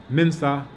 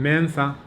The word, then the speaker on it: Mensah: Sarapoku was saying, that people say Mensah, but it's supposed to be Mensah, like Miensa.